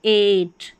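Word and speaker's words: eight: जैसे एट ई आई जी एच ए और टी को ट एट।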